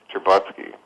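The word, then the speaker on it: Stcherbatsky: there's an academic named uh his name is pronounced cherbotsky but it looks it's a russian name it's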